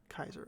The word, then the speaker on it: Kaiser: Is it Kaiser? Is that how you pronounce it? Yeah, it's German. Kaiser. Kaiser.